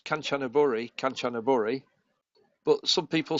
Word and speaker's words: Kanchanaburi: Well, honestly, it's interesting that I pronounce Kanchanaburi, but some people say Kanchanaburi. Yeah. It's just Kanchanaburi.